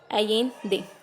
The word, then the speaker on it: Allende: These are some extract from the last speech of Salvador Allende, pronounced Allende, ठीक है, pronounce किया गया इसको Allende से।